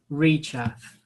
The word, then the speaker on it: Reecharth: I don't know how to pronounce his name. Can you say his name again, please? Reecharth.